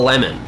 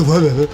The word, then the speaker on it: Lennon: it was Lennon the Lemon, spelled Lennon. I know what I am doing. Okay. You can be quiet. Right? It's actually Lennon.